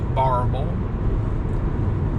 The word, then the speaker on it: Barbourville: i am finally in the town of barbourville kentucky pronounced barble and this is my